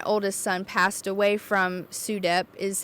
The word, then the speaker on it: SUDEP: But SUEDEP, I mentioned earlier, my oldest son passed away from SUDEP is how you say the abbreviation, but sudden unexpected death and epilepsy.